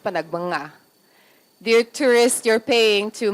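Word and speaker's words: Panagbenga: Dear tourist, it's pronounced panagbanga.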